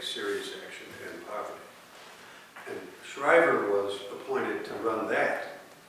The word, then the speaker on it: Shriver: on Poverty Law U Sergeant Shriver is not spelled like the the sergeant it's just s a r g n t his name um was